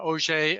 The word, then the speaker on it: Auger: of the word OJ although it is spelled like those large drilling tools uh it is named